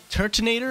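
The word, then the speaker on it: Turtonator: lapras a mungus milotic tertinator is how you pronounce it a little dragon fire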